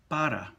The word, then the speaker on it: para: All right, and to contrast that down below with para, the single R, which is just a simple tap of the tongue to the roof of the mouth.